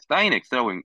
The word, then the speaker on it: sgn: 이거를 이 절대값 x를 미분한 함수를 sgnx, sin x라고 읽어요. sin x.